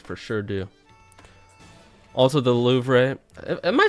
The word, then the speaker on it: Louvre: The re is silent. Is that how it is a lot of the time in French, where if there's an RE at the end?